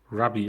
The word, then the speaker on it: Ravi: Ravi Wallet, Rabi, like spelled like a how? rabbit, Ah, rabbit. Okay. but it is Ravi.